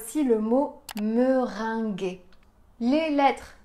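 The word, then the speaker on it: meringuée: un i un Mering gu en français quand on a la lettre G suivie d'un U on a le son gu gu et donc on va avoir me ring la tarte au citron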